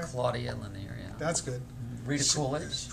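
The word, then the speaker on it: Claudia Lennear: Claudine Lanier. Is that, did I say it right? Claudia Lanier, yeah.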